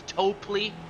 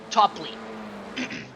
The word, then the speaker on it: Topley: Last week I see said mostly topi because there's a wrestling move called topi. So I think this is why I use that pronunciation. But oh Elvis going wide again but it is topply you and topply.